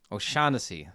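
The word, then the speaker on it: O'Shaughnessy: help me out here how do you pronounce her last name oh something o shasy o shanesy thank you uh I would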